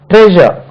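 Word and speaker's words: treasure: வரும் ட்ரெஷர் ட்ரெஷர் ட்ரெஷர் நம்ம ட்ரெஷர் சொல்லுவோம் இந்த ஷா வச்சு சொல்லுவோம் தவறு ட்ரெஷர் இல்ல அது ட்ரெஷர் ட்ரெஷர் என்ன சொன்னேன் மெஷர் லேசர் சொன்னோம் இல்லையா அதே மாதிரி ட்ரெஷர் ரைட் ட்ரெஷர் பொக்கிஷம் அல்லது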